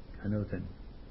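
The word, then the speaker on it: ἄνωθεν: I'll spell it out to you. A-N-O-T-H-E-N. Anoten.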